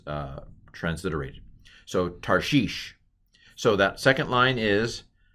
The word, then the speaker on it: Tarshish: tov it's a patak what's under the rash it's a shiva and i'm going to tell you it's a silent schwa this syllable is closed tar again tar heel tar okay what's what's under